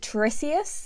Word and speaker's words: Tiresias: I think the character or the legend that it depicts, I think his name or their name is pronounced Tiresias, and a huge part